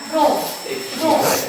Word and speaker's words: rho: Nah, itu bukan P ya, bacanya Rho.